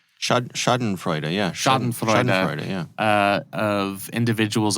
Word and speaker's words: Schadenfreude: are so many, how do you say it, Schadenfreude? Schadenfreude, yeah.